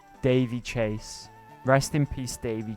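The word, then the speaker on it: Daveigh: Pronounced Davey. I gotcha. Davey Chase.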